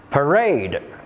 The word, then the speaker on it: parade: Parade, parents, flower, carry. The answer is parade because it has stress on the second syllable while the other three have stress on the first syllable.